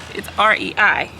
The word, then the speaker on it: REI: it oh that's how you say it o-r-e-i REI Co-op you would think it would say Reed